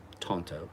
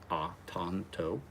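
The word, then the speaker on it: Tanto: Tonto. T-A-N-T-O. Tonto. That is the typical Japanese spelling. A's are not hard A's usually in Japanese, unless you usually throw another letter behind it to make it a hard.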